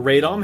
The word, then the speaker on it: Radom: This was developed in the Radom factory, or Radom, however you like to pronounce it.